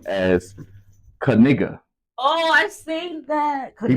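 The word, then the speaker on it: Knigga: um meme what's his last name now he pronounced his last name as kigga oh I seen that he pronounces his last name as kiga and it's spelled k n i g g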